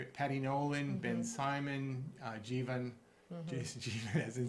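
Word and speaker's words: Jivan: So that was Burhan Azim, Alana Mallon, Mark McGovern, Risa Metnick, Adrian Musgrave, Sumbul Siddiqui, Denise Simmons, Jeevan, Sabrina Wheeler. Rhymes with Stephen. Jeevan. Rhymes with Stephen.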